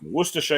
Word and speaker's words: Worcestershire: Worcestershire. It's pronounced the same as the Worcester in Massachusetts.